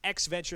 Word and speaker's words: EXEventure: the new name for virtual auto sports is x venture that's how you pronounce it exe executable programming stuff computer computer